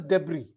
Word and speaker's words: debris: It is pronounced as debris. Mm, S is silent.